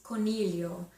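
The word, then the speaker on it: coniglio: the e sound yeah uh bunny rabbit is Cornelio c-o-n-i-g-l-i-o Cornelio sound okay so it's not a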